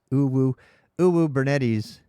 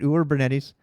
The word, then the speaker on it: Uwubernetes: Mostly, I need to read actual stuff about this Uwubernetes.